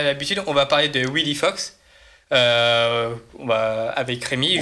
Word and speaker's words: Wileyfox: de suite passer à Willy Fox. C'est bien comme ça qu'on le prononce he ? Ouais Wy Fox. Willy Fox. W Fox. Ouais parce si on prend si on prend l'action anglais c'est Wifox.